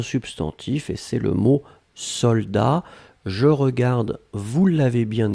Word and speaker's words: soldats: chose c'est un substantif et c'est le mot soldats je regarde vous l'avez bien écrit attention sec de best soldats avec un thé final on ne prononce pas le thé mais logiquement il devrait